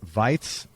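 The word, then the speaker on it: Weiz: and let's see if i get this correct vites in austria is that how you pronounce it that's how you pronounce it yeah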